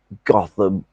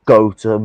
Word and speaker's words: Gotham: Gotham, or Gotham as it's actually supposed to be pronounced, you American heathens.